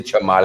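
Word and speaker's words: Cholmondeley: The pronounce is Chamley. Even though it's so long, it's just Chamley. You serious? Yeah. You could say Chamali.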